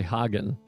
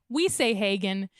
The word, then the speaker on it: Hagen: But we say Hagin, but it might technically be Hagen, is what I'm trying to say.